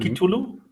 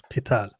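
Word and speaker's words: قتال: So if you say kutiba alaykumul al-qatl, that But not would kitulu? No, you don't pronounce it that way. Qital.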